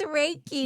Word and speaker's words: Reiki: And then can you help me pronounce, is it Reiki? It's Reiki.